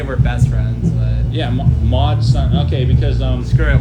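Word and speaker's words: MOD SUN: best friend matsun i love him in l.a mod son oh mod son yeah how do you spell that uh mod m-o-d-s-u-n yes mod son yeah yeah okay i don't know why i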